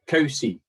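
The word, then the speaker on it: Covesea: We pronounce it Cowsey, but Kovesey That's how it's spelled.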